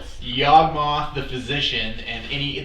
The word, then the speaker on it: Yawgmoth: Yawgmoth. Yawgmoth. Say it like a monster, and then you got it.